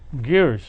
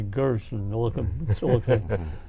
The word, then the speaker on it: Giersch: no no go ahead i wanted the children to know how to pronounce my german name gears spelled g-i-e-r-s-e-s i wondered to spell it because a lot of people call me gerson so uh i said